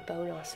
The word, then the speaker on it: Bonas: oliver bonus sorry um we have a joke about oliver bonas and we say his name is well the company name and not as bonus but bonas um yeah excuse that so